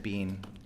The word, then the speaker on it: Bean: I pronounce it Bean. I spell it B-E-A-N.